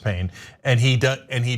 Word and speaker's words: Payne: his name is Dr Payne yeah I know okay it's p-a-y-n-e but it is pronounced pain and he does and